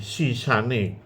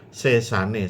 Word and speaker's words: sesane: Di dalam pedalangan sering diucapkan tan tedas tapak paluning pandhe sisane gurindo. Nah, sebenarnya bukan sisane ya. Sesane, seso itu kekuatannya.